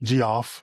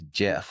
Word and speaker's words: Geoff: uh who is a Republican, his name is Jeff Duncan. Jeff with a G with a G. Goff.